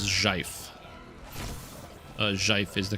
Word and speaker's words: GIF: The correct pronunciation is Jif.